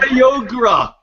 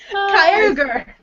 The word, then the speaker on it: Kyogre: don't know anymore kogre for years I said kyoga I was so bad KY Kyogre I used to say gudon is it is